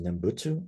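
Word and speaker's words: 念仏: In Japanese, it's pronounced Nembutsu, and in Mandarin, it's pronounced Nyanfo.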